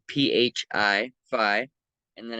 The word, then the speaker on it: phi: It's spelled PHI, phi.